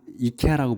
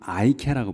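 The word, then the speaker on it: IKEA: 그 광명시에 들어와 있다고 제가 들었는데 이거를 그래서 여기는 이케아라고 부르지만 그 영어권에서는 아이케아라고 불러요. 아이라고 해.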